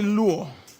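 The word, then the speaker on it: λύω: Y desatar, así como está ahí en el pizarrón, con acento en la U, deo y luo.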